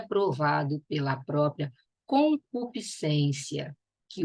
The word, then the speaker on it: concupiscência: Você fala acrescentar, descer, crescer, a mesma coisa se fala concupiscência. Não se pronuncia esse S.